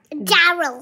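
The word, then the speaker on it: dearg: चलो रेड को बोलते हैं, आपने बोला डैरल डैरल डैरल डैरल डैरल. Mummy का प्रोनाउंसिएशन ओके ठीक है.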